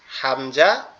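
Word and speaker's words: ء: এইযে এটা হচ্ছে কি কন্ঠনালীর শুরু থেকে উচ্চারিত হবে হচ্ছে হামজা আর হা এই দুইটা অক্ষর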